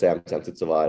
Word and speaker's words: Sansudsavat: Yeah, so my name is Sansudsavat.